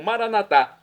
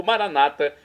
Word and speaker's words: Maranata: E agora eu clamo Maranatá, como dizemos nós católicos, ou Maranata, como dizem nossos irmãos separados, das comunidades das comunidades evangélicas ou protestantes. Não importa a pronúncia, o significado é o mesmo.